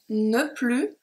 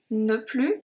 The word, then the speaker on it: ne plus: and then we have no plu no plu here the s is not pronounced if you remember my